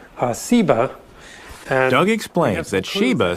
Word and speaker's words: Seba: think is related that has just a different S sound Seba and ugly explains that